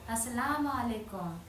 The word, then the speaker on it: as-salamu alaykum: So, you say "As-salamu alaykum."